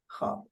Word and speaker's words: خواب: facilitated to the خواب, and the verb is silent. I mean, you don't hear it anymore.